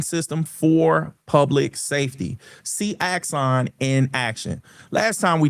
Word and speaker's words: Axon: I was calling them Exxon like they were the energy company. I ain't know what I ain't know how to pronounce that. It's Axon.